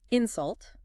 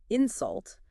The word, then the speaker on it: insult: You hear how the first part in is a bit stronger. That's what we call stress, where you put the emphasis on the word. And if you put the stress on the second part, insult, it actually becomes a verb, meaning to say something rude to someone.